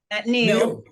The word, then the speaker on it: Neil: Neil, is it now or Neil? Neil. Neil. Like the name Rochelle.